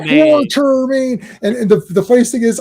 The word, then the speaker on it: Quatermain: quarter, and I'm like, it's not quarter. There's no R there. It's like stop giving it an extra R.